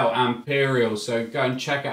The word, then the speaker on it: AMP3RIAL: That's Imperial as spelt with an A as an amp, and then instead of the E, it's a three. So AMP3RIAL, Imperial.